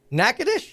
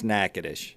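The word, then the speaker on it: Natchitoches: say it really fast I actually know how to say it all right it's Naish nacadish it's nacadish that ain't how it reads I get it it's nacadish Louisiana trust me I've been there stupid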